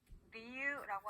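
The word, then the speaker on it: 理由: 자, 이유라고 하는 일본어 단어는요, 리유라고 하는데요. 자, 유우라고 따로따로 읽어주는 게 아니라 유를 그대로 늘려줍니다.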